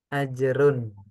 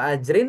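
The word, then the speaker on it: أَجْرٌ: Jadi kemungkinan bacanya sebenarnya cuma ajrun sama ajrin karena nggak ada alifnya di depan. oh iya ya Gitu. Tapi Ajrun. kalau ajrin nggak mungkin gitu. Biasanya bacanya ajrun. Karena kalau mau dibaca ajrin sebelumnya harus ada huruf huruf jer gitu.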